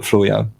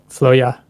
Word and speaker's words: Floya: pronounce the band name oh it's basically free to interpret as you please but uh we call it floya floya where where' that come